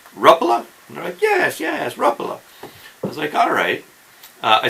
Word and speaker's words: Rapala: the conclusion I came to is the correct pronunciation is Ruffalo okay rattle is pretty close but if you say Rapala in front of the finns they're just gonna